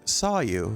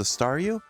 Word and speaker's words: Staryu: was still just a Staryu, I could never pronounce this name right. It always ended up sounding like saw you.